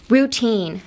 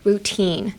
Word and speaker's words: routine: Next, routine, routine, tine, tine. The -tine in "routine" — the spelling differs, but it's, like, the same as how you would say teen, like teenager, teen.